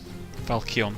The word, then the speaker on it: falchion: Falchion. Sorry, Falchion. I always pronounce it wrong. Falchion.